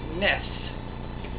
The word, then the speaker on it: NES: on this table sidebar it is pronounced ness as in mess advantage it is not